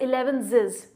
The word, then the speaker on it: elevenses: Pronunciation याद रखिए, इसकी pronunciation is इलेवेंसेस. Next is the meal which